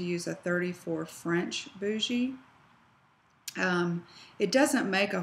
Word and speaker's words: bougie: is ask your doctor what size bougie they use or some people call it a boogie um but it's is